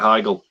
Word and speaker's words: Heigl: Oh, Catherine Heigl. How do you pronounce her surname? Is it Catherine Heigl?